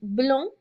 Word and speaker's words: blonde: the girl is born so notice that there's a slight difference in the pronunciation when I add that II I then hear the final consonant I hear that final de so here is blonde blonde legião saw Abraham